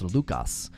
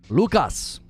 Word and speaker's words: Lucas: Oh, there's a Mexican candy called Lucas. Well, it would be pronounced Lucas. Lucas.